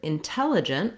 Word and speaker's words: intelligent: In the word intelligent, we have second syllable stress.